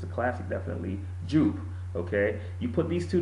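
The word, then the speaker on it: Jean Patou Joy: it's a classic, definitely Jupe. Okay, you put these two together, Jubilation and Yope, it's spelled Jupe by the way, but it's pronounced Yope.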